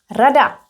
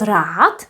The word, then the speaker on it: rad: It's also feminine, rada. And we can count it. Jedna rada, dvě rady, tři rady, čtyři rady, pět rad. Rad? That's right. Pronounced with t, rad. Not rád, but rad.